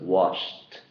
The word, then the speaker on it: washed: a t sound so when you add Ed you have a t sound at the end this makes a t sound so it's washed so those are the